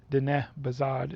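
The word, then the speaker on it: Diné bizaad: It's d bazard is how you say it in Navajo.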